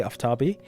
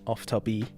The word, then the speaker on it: Aftabi: chat yeah so and if if you're unsure about pronunciation in English you can just say aabi um in Persian if I want to use my Persian accent for a second it's ofab but ofab works better in English because of how the